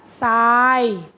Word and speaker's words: ทราย: หนึ่ง ครั้ง นะ คะ ถ้า ท. ทหาร ประสม กับ รอ เรือ เมื่อ ไหร่ จะ ก็ อ่าน ออก เสียง เป็น ซอโซ่ ทัน ที ตัว อย่าง ข้อ ที่